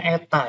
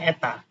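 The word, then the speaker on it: η: Jadi dimulai SN ratio itu dinotasikan seperti ini, menggunakan ini bacanya eta ya. Jadi kayak N strat ke bawah ini ya. Jadi N kecil begitu. Bacanya eta.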